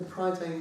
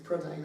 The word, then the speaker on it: Prydain: And the Prydain novels, I'm not quite pronouncing that correctly, it's Prydain actually. Spot the person who's just started to learn Welsh.